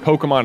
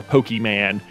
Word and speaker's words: Pokémon: to say this pokemon i think the appropriate way is pokemon uh but every adult ever who has been too old for the game has said pokemon or pokeman is just like get